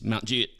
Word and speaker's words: Mount Juliet: Mount Juliet if you're from Mount Juliet it's Mount jet yeah it's jet J Mount J um and